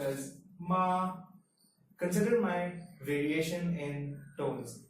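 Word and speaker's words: 妈: If you take the word ma, now if you say ma in first tone, it's pronounced as ma.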